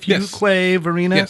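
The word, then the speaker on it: Fuquay-Varina: Fuquay, Verena?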